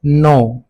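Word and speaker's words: know: इसके बाद है हमारे पास नो। नो में हमारे पास के साइलेंट है।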